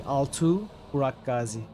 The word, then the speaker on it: Altu Burak Gazi: Altu Burak Gazi. That would be the full name. It's pronounced correctly. Altu Burak Gazi.